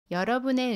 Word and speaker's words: 여러분의: When ‘의’ is used as the possessive particle, It can be pronounced as either [의] or [에].